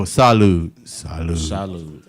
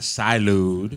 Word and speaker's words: salud: Did I say it right? No, salud. Oh. Not salud. I am your father.